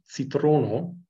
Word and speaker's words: citrono: The letter C is always pronounced like ts in bits, never as K or S. So the Ido word citrono, which means lemon, is always pronounced.